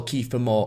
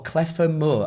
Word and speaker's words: Kiefer Moore: But the false 9 tactic didn't stay against Montenegro, and we saw Kiefer Moore, or Clefer Moore as the stadium announcer pronounced it.